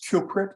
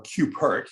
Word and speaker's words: QPRT: trust okay this and this cuprit or cupert it's pronounced different ways uh the the the